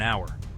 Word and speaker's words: hour: Four, it takes about an hour. Hour starts with a vowel sound.